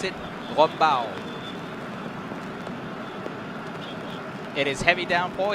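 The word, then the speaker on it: Raub: the Riders are heading towards a town called Rau or how the local would pronounce it Rau it is heavy down for here but some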